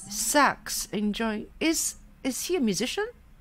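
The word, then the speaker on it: Sachs: very dear how do you say that? S-A-C-H-S. Sax. Sax.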